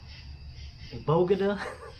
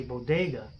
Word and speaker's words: bodega: how did you how did you buy i pronounced it a uh bogada yeah people watching what the hell is a bogut at all she means a bodega and he had a knife he stabbed me